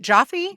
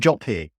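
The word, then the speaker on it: Joffé: Is it Jaffe? Hoffe? Do you know how to pronounce the director? He's British, so make it British. Roland Joffe.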